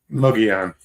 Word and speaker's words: Mogollon: Mogollon. Yeah. Yeah. But the two L's make a Y cuz of Spanish.